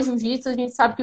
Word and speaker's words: Jiu-Jitsu: coisa para guerra, que o nome se escrevia Jujutsu e a pronúncia era Jiu-Jitsu, né?